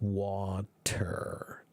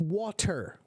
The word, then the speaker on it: water: So the hard T becomes a soft D, like in the case of water.